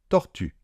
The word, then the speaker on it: tortue: J'ai une petite astuce pour le faire, c'est de faire un petit peu comme un O, de mettre la bouche dans la position d'un O, mais en même temps, vous allez essayer de faire le son I, d'accord? Donc on est là, O, vous ramenez un petit peu la langue donc vers l'arrière, et on a donc U. U.